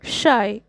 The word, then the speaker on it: Scheu: will all a comply sixth the poet says that his name is pronounced as the word shy answer when it comes